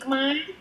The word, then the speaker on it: Khmer: Khmer yeah I am Khmer Why is Khmer spelled with ER? because we under the French colony almost 100 years. That's why we influence some of the, even though we write like this, but our pronunciation French.